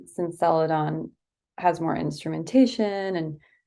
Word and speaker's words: Celadon: the first one since it's called what celadan Celadon yeah pronouncing that correctly so so why is that